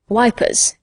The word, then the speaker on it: Ypres: All the Tommies call it Passchendaele, just as they called Ypres wipers.